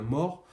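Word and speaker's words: More: certain thomas ce marin pas moore attention vous n'avez pas de haut côte à côte c'est bien mort la prononciation description d'une ville la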